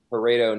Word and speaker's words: Pareto: Pareto Network.